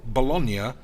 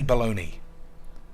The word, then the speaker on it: bologna: you mean cody baloney i've never understood how bologna is said bologna in italy but americans say baloney i don't understand lads